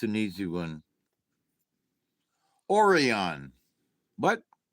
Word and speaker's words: Orion: That, Orion. It's pronounced Orion.